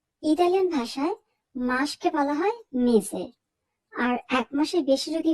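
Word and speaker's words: mese: শেষের দিকে আছে এসএ এস এর উচ্চারণ আমরা এখানে জ এর মত করবো এস এর মত করবো না তার মানে আমরা বলবো মেজে আমরা বলবো না মেসে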